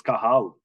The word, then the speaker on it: Cathal: It's a silent T. So Cathal. Cathal. It's Cathal.